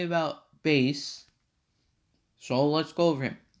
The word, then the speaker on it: Bass: or bass bass yeah bait bass is how you say it the spelling always tits me off i always think it's fast but no no it's bass definitely because music reference rock